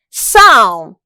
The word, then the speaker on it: psalm: The correct answer is option D, psalm. This is because the letter P is silent.